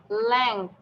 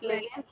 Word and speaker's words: length: লেংথ, নট লেগেন্থ, লেংথ।